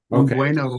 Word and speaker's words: buen: Buen. So tna unen aroma or buena frag fraia. Um, yeah. So, you're saying buen and not buen. Buen. Okay. Yeah. Rhymes with when Okay.